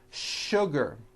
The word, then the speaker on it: sugar: in english that are written with the letter s but are pronounced with the sh sound words like sugar and sure and to